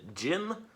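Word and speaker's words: Djinn: new album actually called jin like you know spirit gin with d-j-i-n-n i think it's spelled and um i'm really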